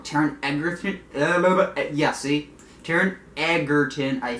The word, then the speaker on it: Taron Egerton: he would probably be the kid from Kingsman, Taron Egerton. I always pronounce his name wrong. Taron Egerton.